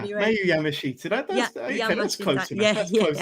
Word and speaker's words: Miyu Yamashita: Miyu Yamashita. Miyu Yamashita.